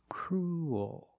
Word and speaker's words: cruel: but it's not a it's not an extra vowel it's one vowel cruel your mouth opens and you make an extra little sound cruel like pool and